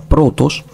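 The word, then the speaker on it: πρῶτος: vamos a decir que la palabra protos es una palabra que está conformada por dos sílabas pro y tos Entonces vamos a ver cómo es el nominativo que ya lo vimos el nominativo es protos y aquí podemos ver que el acento circunflejo está Precisamente en la penúltima sílaba el caso genitivo masculino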